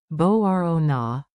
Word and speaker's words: Μπορώ να: Bo-ro na, bo-ro na. Μπορώ να. Emphasize the rising, ro.